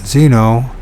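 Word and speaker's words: Xeno: Although Patrick had no knowledge of Greek, Exno, pronounced Zeno, it says Zeno, is the word for stranger in that language.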